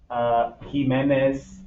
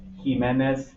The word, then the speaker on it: Jiménez: Juan, Juanita, Jiménez, Jiménez, con la H. ¿Sí? You actually make the H sound con J.